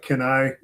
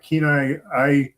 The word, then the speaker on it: Kenai: Like some people call it Kenai, and other people call it Kenai.